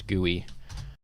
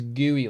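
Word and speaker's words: GUI: the chat real quick I pronounce it as gooey like gooey like that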